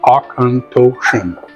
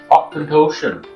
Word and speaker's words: Auchentoshan: box here it even tells you how to pronounce it Osan Osan so new yeah so